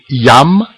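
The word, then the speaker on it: jam: que significa ja né olha bem que eu pronuncio o J sempre I breve então é Yam ne plor outra frase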